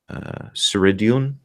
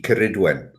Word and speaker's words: Ceridwen: Ceridion. Cerrid. Hard C, Ceridwen.